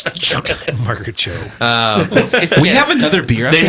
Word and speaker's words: TCHO: TCHO whatever. Oh, the Tcho. Yeah, Tcho. It's Cho. Yeah, It's Cho. Cho.